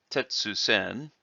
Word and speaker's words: Tessen: Now, it is okay to say Tetsu-sen. However, it is most common to contract those two words together with a double consonant between the two words.